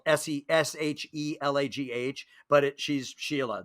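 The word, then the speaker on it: Shelagh: s-e-s-h-e-l-a-g-h but it she's sheila that's how you pronounce that it's irish she thought it sounded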